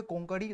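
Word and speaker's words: कोंकणी: तो यहां पर भी देखिएगा सेम आप लोगों को यहां पर कोंकड़ी लैंग्वेज जो एक गोवा का रीजनल लैंग्वेज है केरल और महाराष्ट्र में भी बोला जाता है तो इसका प्रोनाउंसिएशन कोकड़ी है एक्चुअल में हिंदी में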